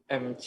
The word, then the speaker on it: Mek: MC aja. MC, manggilnya MC gitu. Nama keluarga. Oh, keluarga. Oh, Ya. jadi bukan singkatan ya? Bukan ya? Bukan singkatan MC. Bukan. Oh, Bukan. sama kita kayak kira manggilnya Mac gitu. Mac, kayak McDonald gitu.